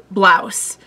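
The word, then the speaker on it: Braus: I remember it being like B-R-A-U-S, but they pronounced it like Blouse.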